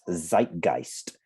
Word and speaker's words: zeitgeist: or not but let's write it down it's zeitgeist zeitgeist what zika oh there's a z e i t g okay this um phonetically this looks more correct to what you